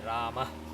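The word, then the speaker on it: रामः: So to emphasize again, this is Rama, this is Hari, and this is Guru. So this is a very subtle letting go of the air.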